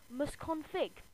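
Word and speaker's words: msconfig: which you probably won't know the word is mus config it is spelled Ms c o n fig no capitals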